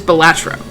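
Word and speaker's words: Balatro: I've always pronounced it Batro, which is pretty close to how it's actually supposed to be pronounced. U which is Bilatro. It's just I put the empasis on the wrong salab.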